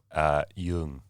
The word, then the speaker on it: Duong: Yung Yeah. in Vietnamese, but Duong. Duong. Yeah. Is how most Aussies would say it.